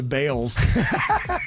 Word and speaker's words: Balls: The thing I love in that story was the family was so embarrassed by the name Harry Balls, they changed the pronunciation of their last name to Bales.